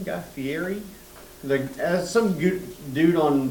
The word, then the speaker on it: Guy Fieri: Had breakfast there and then uh ate at Guy Fier's restaurant. Is that how you say his name? Guy Fieri.